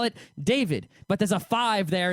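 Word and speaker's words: Da5id: david and i'm pretty i would pronounce his name david you know dia is david but d-a-5-i-d real i just called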